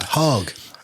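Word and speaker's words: Hägg: Sweden who's going to tell us how to pronounce it. Heg he Okay.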